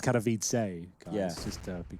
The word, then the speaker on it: Katowice: I think it's pronounced Katowice, guys, Yeah. just to be clear. Yeah, Katowice.